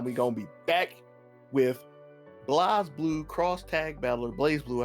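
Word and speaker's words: BlazBlue: gonna be back with Blaze Blue cross tag battler, Blaze Blue, however you like to say it. I always like Blaze. There's no E there. It's not the correct pronunciation.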